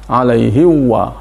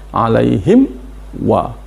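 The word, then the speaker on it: عَلَيْهِمْ وَ: Sering dibaca alaihi wa. Makanya harus jelas alaihim wa.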